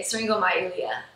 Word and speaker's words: syringomyelia: heart conditions, and how common are spinal problems, syringomyelia? I can't pronounce this. It's okay, syringomyelia.